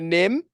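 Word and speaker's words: NIMH: Yeah, you want to say it correctly or I don't know. Nymph? The Secret of Nim? Oh, Nim. Okay. Just Nim.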